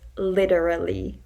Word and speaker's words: literally: used in english but the correct less slang way in my opinion is literally where you actually pronounce each syllable instead of meshing or merging the sounds together by saying literally that's